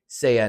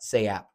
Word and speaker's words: SAYA: The P is silent. So, it's Seiya, not Seyap.